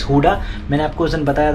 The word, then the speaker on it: Gouda: And guys, ये Amsterdam airport पे हुडा चीज़, actually it's spelled as गूडा with ji, बट इसका pronunciation is हुडा।